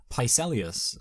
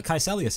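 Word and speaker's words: Kaecilius: the fact that like he's able to like pelus who's um sorry K kelus yes um I spell his name wrong in my notes which is why I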